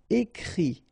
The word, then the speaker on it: écrit: And then the it, phonetically you pronounce i because final t is not pronounced, but still. Écrire, to write, écrit.